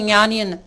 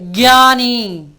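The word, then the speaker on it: ज्ञानी: இந்த ஞானி தமிழில் ஞானி என்பது ரொம்ப பாப்புலரான வார்த்தை, ஞானின்னு. ஆனால் ஹிந்தி உச்சரிப்பு என்னென்னா ஞானி கிடையாது, கியானி கியானி.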